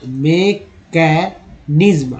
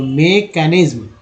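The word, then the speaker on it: mechanism: to understand unfold the मैकेनिज्म, आई एस एम को इज्म पढ़ते हैं, तो मैकेनिज्म of transportation, T आई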